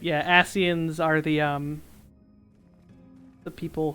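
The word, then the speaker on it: Ascian: That's how it's pronounced, but it's got a C in it. Yeah, asens are the um the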